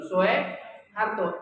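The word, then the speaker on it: Soeharto: Karno soharto juga gitu Soe Harto itu ejaan lama bacanya tetap su bukan Soe bacanya tapi anak-anak kita sekarang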